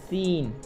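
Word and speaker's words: scene: Saint तो यहां पर देखो सी साइलेंट हो गया साइंस क्या लिखा है साइंस तो देखो सी साइलेंट हो गया सीन सी साइलेंट हो गया आवर देखो तो एस साइलेंट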